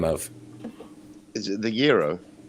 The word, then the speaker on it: gyro: Is it the gyro? It's it's spelt like gyro, but it how is it it's said? like gyro, but it's gyro.